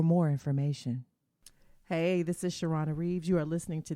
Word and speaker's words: Charlane: right I appreciate that well it's shiron for me but I hear shirona all the time so I always try